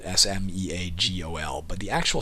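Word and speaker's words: Sméagol: here it is spelled s-m-e-a-g-o-l but the actual spelling in the books is s m e exalted a g-o-l which means it's not pronounced smeagle it's pronounced smeagol is his name bugged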